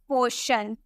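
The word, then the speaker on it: portion: Next, अगर हमें बोलना हो पोर्शन, आपको यहाँ टी के बाद IO नजर आ रहा है ना, इसीलिए हम इसे शॉ में प्रोनाउंस करेंगे, हम इसे बोलेंगे पोर्शन।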